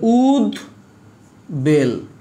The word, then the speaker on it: উদ্বেল: উদ্বেল দুজনের উচ্চারণ হবে, দুইটা বর্ণের উচ্চারণ হবে, এই জন্য বলেছি উভয়ের উচ্চারণ হবে, মানে দুইটার উচ্চারণ হবে। তাহলে উদ বেল, এ হচ্ছে উদ্বেল, বুঝতে পারছ?